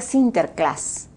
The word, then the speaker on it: Sinterklaas: holanda pues ese es san nicolás y se pronuncia a sinterklaas ya entonces ellos traen